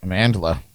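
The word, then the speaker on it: Amandla: you say it yeah Amanda Amanda with an L in it randomly for no reason at all is 26 today um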